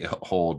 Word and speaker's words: HODL: bunch of them, and they say hold, but they spell it HODL.